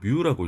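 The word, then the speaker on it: μ: 그리고 어이 중에 마이크로 아까 마이크로 얘기를 했었는데 마이크로 어 공학에서는 보통 뮤라고 읽습니다. 뮤 뮤라고 읽고이 기온은 어떻게 쓰냐? 이게 유처럼 생기기도 했는데 유는 절대 아니고요. 뮤라는 단어입니다.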